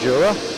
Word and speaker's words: Jura: I believe you pronounce this as certainly you spell it the Jura Mountains. Julia uniform Romeo Alpha. So for me that's Jura.